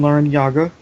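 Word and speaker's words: Larrañaga: ex SE for basketball wonder the coach Jim Len Yaga and yes that is the correct way to pronounce his name even though even he has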